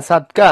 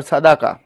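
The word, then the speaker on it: صدقة: বর্ষিত হবে একজন বলছে ভাইয়া সাদকা অর সাদাকা সাদাকা বলা ভালো সাদকা না সাদকা উচ্চারণটা সাদাকা বেসিক্যালি আমরা সাদকা বলি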